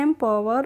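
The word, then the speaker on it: empower: पढ़ेंगे एम और पी ओ डब्लू ई आर को हम पढ़ते हैं पावर तो इसको हम पढ़ते हैं एम पावर और एम पावर का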